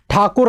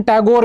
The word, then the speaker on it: ठाकुर: मैंने ठाकुर शब्द इसलिए बोला है क्योंकि वास्तविक नाम ठाकुर रविंद्रनाथ ही है। इस ठाकुर शब्द को अंग्रेज लोग जब आए तो वो ठाकुर प्रोनाउंसिएशन कर नहीं पाए, तो उन्होंने ठाकुर का प्रोनाउंसिएशन टैगोर में किया।